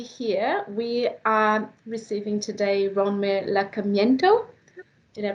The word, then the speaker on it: Ronmar Lacamiento: So, for those ones that are already here, we are receiving today Ronmar Lacamiento. Did I pronounce that right?